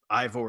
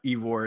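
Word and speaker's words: Eivor: new assassin is named I want to say Eve or is how you say it I've heard I four as well but Eve or is what we're going with like Odyssey it will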